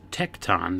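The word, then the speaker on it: tekton: son of a carpenter but the Greek word is tecton that's spelled t e k t o n and means Builder Ary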